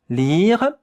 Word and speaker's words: lire: The only difficult thing here is the French R.